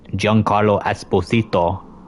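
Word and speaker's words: Giancarlo Esposito: Far Cry 6 yep uh JN Carlo Esposito that's how you pronounce his name Far Cry 3 multiplayer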